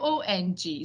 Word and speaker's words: Wang: People see me, they cannot pronounce it because I chose Wang because that's how it's spelled in Chinese. But it's pronounced Wong.